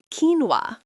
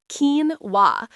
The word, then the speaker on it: quinoa: Next, quinoa. Quinoa. Perfect. It's keen wa. These pronunciation quirks are tricky, but you're doing great.